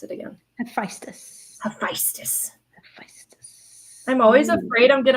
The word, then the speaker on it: Hephaestus: How do you pronounce it again? Hephaestus.